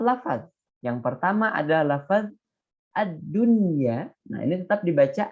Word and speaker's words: ad-dunya: Yang pertama adalah lafaz ad-dunya. Nah, ini tetap dibaca ad-dunya, tidak ad-dunya, tapi ad-dunya.